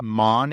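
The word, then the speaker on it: Mawn: And you have Man, M A WN, not to be confused with John.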